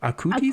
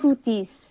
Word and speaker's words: Acutis: Acutis? Acutis.